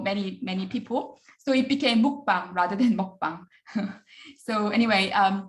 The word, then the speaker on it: mukbang: All is very close to U phonetically. So this is why mukbang in Korean becomes mukbang in English. So all people kind of, even if I say all, you hear it as U, because U is closest